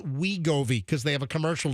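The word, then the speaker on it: Wegovy: Remember we uh we realized like three weeks ago that it's pronounced Wiggoi because they have a commercial now. We go. We go. I thought it was just WGO, but it's it's we go.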